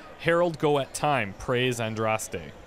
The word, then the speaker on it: Andraste: Harold, go at time, praise Andraste. Well, they said Andrast, just like how I used to pronounce it.